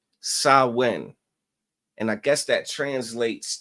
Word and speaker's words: Samhain: celebrate is called, it's spelled Samhain, but it's pronounced Samhain. All right. Samhain.